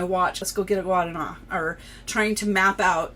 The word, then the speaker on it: Guaraná: share so guana um the r is like a duh sound um when you say it this the way it's spelled um in Portuguese so guana to guana So